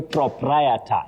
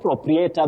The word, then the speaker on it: proprietor: Agri, Katana, you say proprietor, not proprietor that we commonly hear around us.